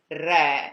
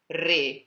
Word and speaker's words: re: for the note d there is actually a slight difference in the pronunciation because the note d is re with an open e and the king is re with a closed e but that's very very